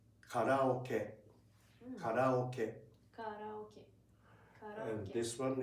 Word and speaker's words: karaoke: In Japanese, we pronounce it like karaoke.